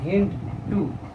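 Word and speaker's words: HindII: হেন ডি, কিন্তু সুবিধার্থে আমরা কি উচ্চারণ করি? হেন্ড 2, এবং 2 হলো কি?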